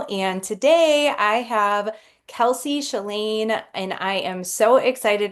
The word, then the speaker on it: Shelaine: I'm your host, and today I have Kelsey Chellain, and I am so excited. Did I pronounce that correctly?